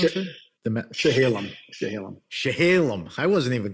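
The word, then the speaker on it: Chehalem: me straight it's it's chaam how do you pronounce it the shahalam shahalam shahalam I wasn't even close the shahalam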